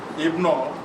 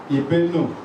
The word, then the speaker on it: Ibono: And the name, Ibono, which has been corrupted because of long years of interaction with neighbors, is not Ibno, as it is pronounced today, it is Ibenu.